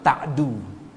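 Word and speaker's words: تعدوا: Huruf tanya fathah ta, huruf ainnya sukun ta, huruf dalnya dhammah ta'du, bukan ta'ud. Wala ta'du.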